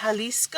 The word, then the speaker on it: Jalisco: We're very excited to try this entry, Tacos Jalisco. I think that's how you pronounce it, right? I believe so. The J is an H.